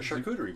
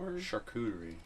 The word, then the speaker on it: charcuterie: what is that a charcuterie board did you make that up no it's a real thing it just sounds like the word shark I think it's a